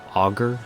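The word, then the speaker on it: Augur: anger of dun lane auger yeah it's pronounced auger of dead lane who resides underneath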